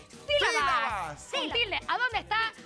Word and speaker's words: sílabas: mugre encima del teclado es una tilde se dice sílabas un tilde A dónde